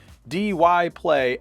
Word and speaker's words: Dyplay: say their name wrong it's either die play or dy play it's dy play active noise-cancelling headphones I